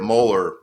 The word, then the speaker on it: Mueller: Yeah, so my dad always taught me it's Mueller like color.